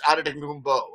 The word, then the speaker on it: Antetokounmpo: It can either be Poe or Beau at the end.